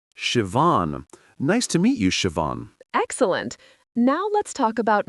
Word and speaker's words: Siobhan: Sure, Shiavan, pronounced Shivan. Siobhan. Nice to meet you, Siobhan.